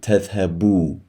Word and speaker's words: تذهبوا: But instead, because we're in the jussive, we're dropping the noon and we're replacing the noon with an alif here. So أنتم لم تذهبوا. The alif is silent.